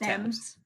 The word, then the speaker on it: Thames: Well, I know the body was found in the Thames, but I don't know what It's pronounced Thames. Thames. Okay. Yeah. Nobody, every American gets it wrong the first time.